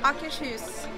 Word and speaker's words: Akershus: How do you pronounce the name of this restaurant, please? Akershus.